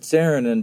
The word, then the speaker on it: Saarinen: Saarinen and that's how you pronounce rights Saarinen well I pronounce it sarin and because my mother pronounced it sarin and okay